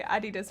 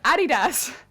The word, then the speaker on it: Adidas: Oh yeah, they call it Adidas, right? Adidas instead of Adidas? How do you pronounce Adidas?